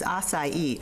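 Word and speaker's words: açaí: oh really two together this is acai which is a bruise that's how you pronounce it in case nobody knew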